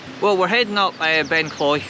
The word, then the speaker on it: Ben Cleuch: we're heading up by ben clay or ben clook sorry i got the pronunciation wrong there um which you can't